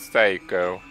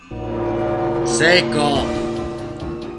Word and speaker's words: Seiko: Just walk on the blood of Psycho. Seiko. Who What? cares? You know what? I'm gonna mispronounce it.